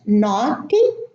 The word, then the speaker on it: naughty: So in all of those words, we have a silent G and a silent H together as one grapheme. And this grapheme is not pronounced.